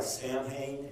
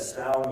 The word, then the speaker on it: Samhain: It looks like Samhain, S-A-M-H-A-I-N. It's a Gaelic Celtic word. And one thing I've learned about the ancient Gaelic language, it's never pronounced how it looks.